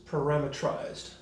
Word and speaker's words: parameterized: of things are called parameterized there's a i have noticed that people from britain pronounce this parametrized skipping that e but i think they